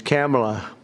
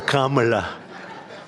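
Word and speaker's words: Kamla: It's a little different. It's Cam, right? Cam as opposed to Com.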